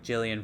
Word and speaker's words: Gillian: Even before this podcast, I had to relook up like Gillian Flynn because it's spelled with a G, so I always want to say Gillian.